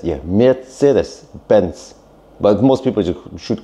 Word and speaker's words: Mercedes: It's called Mercedes. Yeah. Mercedes. Benz. But most people should call it Mercedes. That is supposedly the correct German pronunciation.